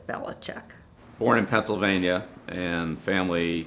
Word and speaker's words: Belichick: It really is pronounced in Croatian Belichic. And in Struthers, we all knew it as Belichick. And then when he ended up in the South, then they started pronouncing it as Belichick.